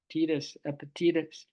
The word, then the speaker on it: Epictetus: Epi, Epictetus, Epictetus. Epic, like the word epic, and then Tetus. That's how you say it.